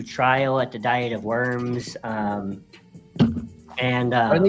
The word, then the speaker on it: Worms: Well, a diet is like a trial and then worms or like the German pronunciation is verms, you know.